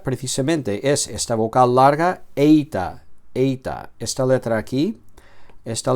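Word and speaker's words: ήτα: Eita. Lailon es la e breve. Ésilon. En cambio, la eita es la e larga como en reino, ¿vale?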